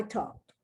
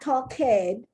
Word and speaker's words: talked: and you got it i talked and it's not talk head the only time you add on an extra syllable if the word ends in d or d e t or t e right uh wet it